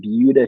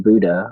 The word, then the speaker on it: Buda: Baptist Church here in Buda, Texas. It is not Buda, all of you Illinois people. I'm just kidding. I'm from Illinois. I know that it's not pronounced with an S.